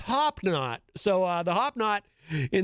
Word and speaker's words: Hop Knot: the street, or as our friend Crazy Joe calls it in his videos, the Hobnobbin. But it's actually pronounced Hop Knot.